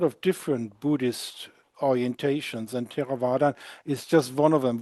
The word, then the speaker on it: Theravadan: No, I believe I have read you became a Theravada. Is it correct pronounced? Theravadan.